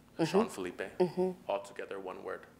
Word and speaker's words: Felipe: F-E-L-I-P-E. Yeah, there you go. Yeah, someone said Philippe. Yeah. Oh, man. Do you get that a lot? Yes. Philippe. It's Felipe. Like, it has the stuff at the end.